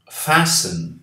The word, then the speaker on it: fasten: Fasten your seat belts, please, the air hostess said. Aqui não falamos o T. Fasten, fasten.